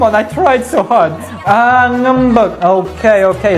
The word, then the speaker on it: ngambek: Ngambek. Okay, it's because that one. Right, because sometimes the E is not pronounced like E. It's more of a neutral sound.